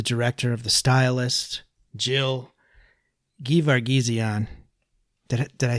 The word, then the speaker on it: Gevargizian: We're here with the director of The Stylist, Jill Gevargizian. Did I say it right? Very, very close. Gevargizian.